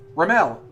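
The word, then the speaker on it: Remele: her successful route so Rimmel Rowley yes Rimmel silent e yeah Rimmel like we fall off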